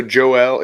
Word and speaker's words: Joel: of them yeah so Joelle it's his it looks like Joel but it's you pronounce it Joelle and Joel is Wayne